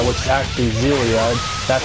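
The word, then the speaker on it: Xillia: for was zilia one course some people pronounce it X zilia which is actually zilia that's how I pronounce it anyway many of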